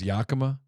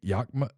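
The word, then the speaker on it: Yakima: I'm mispronouncing this name I thought it was Yakama they're saying it's I think yakma Yak yakma whatever one of the two yakma Valley Washington you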